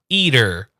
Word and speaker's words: eater: There's a small little D sound. Eater. Eater. Eater. Now, the D is not pronounced that strongly. Eater. Very, very quickly. Eater. Eater. Eater. No, you're still saying the D sound. We want Yeah. the tiniest touch on the D.